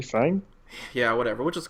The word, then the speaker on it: F.A.N.G: Like if it wasn't if it wasn't an acronym, yes, you would pronounce him the Chinese way, which should be like fun. But it is an acronym. So it's like, well, shouldn't it be fang?